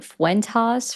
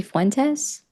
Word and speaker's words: Fuentes: Why did somebody put Fuentas for socialism? Like, they didn't even say it right. Is it supposed to be Fuentes?